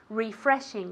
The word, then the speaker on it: refreshing: in english good refreshing refreshing as if it were with an eye at the beginning refreshing repeat very good now let's get david to repeat as well refreshing refreshing and i want to refreshing perfect refreshing okay with the g at the end okay second word it's